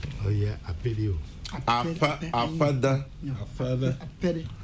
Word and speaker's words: Afede: Apede. Fa. F is pronounced fa. Fa. Apede. F yeah.